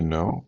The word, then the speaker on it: know: ومنها تأتي كلمة to know. So the K is silent, so know is similar to cognition, so the two words are related.